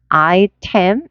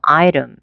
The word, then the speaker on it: 아이템: 그런데 보세요. 여기 T 사운드가 모음 사이에 있죠. 그러니까 이렇게 부드럽게 파열이 돼서 이렇게 아이럼인데 아이럼보다는 모음이 약화돼서 아이름 또는 아이름 이런 식으로 점점 발음이 약화된다는 거. 그래서 아이템 이게 아니고 아이름 이렇게 해볼까요? 아이름, 아이름.